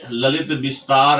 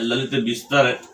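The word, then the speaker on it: ललितविस्तर: तो सबसे पहले यहाँ देखेंगे एक ग्रंथ है ललित विस्तार। हालांकि इसका सही नाम है ललित विस्तर, जो एक बौद्ध ग्रंथ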